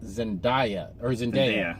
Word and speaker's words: Zendaya: Oh, and we got to talk about I want to pronounce it right. I think it's Zendaya.